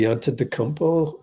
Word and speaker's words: Antetokounmpo: Antetokounmpo. It's like you just read every letter.